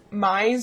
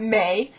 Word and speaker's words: Mai: So everyone, without fail, seems to read Mai's name wrong. It's Mai, M-A-I. It's not May, and it's not Mia, but Mai, as in chai tea latte. Chai, Mai. And then Erie's name is like Lake Erie.